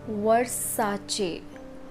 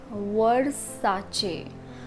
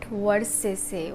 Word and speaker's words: Versace: It's Versace. Versace, not Versace. Versace is the wrong pronunciation. The right pronunciation is Versace.